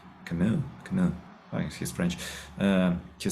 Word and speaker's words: Camus: but that will be like I guess Albert Camus, pronounce him right, Camus.